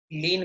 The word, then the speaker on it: lien: इसे हम इंग्लिश में लीगल टर्मिनोलॉजी में लीन बोलते हैं, LIEN, लीन। उच्चारण वही जो प्रभु की भक्ति में लीन हो जाते हैं ना, उच्चारण वही हिंदी वाला लीन, लेकिन वर्ड है इंग्लिश का लीन।